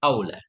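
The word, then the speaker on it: أَوْلى: Kalau yang pertama ula muannas dari awal ula afdal fudla kayak hubla itu anasnya. Iya. Jadi kalau pertama ula bacanya kalau lebih utama aula afdalama fudla kan.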